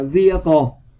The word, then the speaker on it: vehicle: Câu A, các bạn đọc là vehicle. Có nghĩa chữ H các bạn không đọc nha, là nó bị câm đó các bạn.